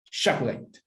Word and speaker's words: chocolate: Chocolate. 3, Christian, 3. What about 2? Listen to me. Chocolate. Chocolate. Yes, this is 2 syllables, guys, pronunciation.